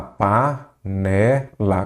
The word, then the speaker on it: panela: panela. Qual que é a sílaba tônica? Panelar, panela ou panela? Panela. Então, é a penúltima, aí você já sabe.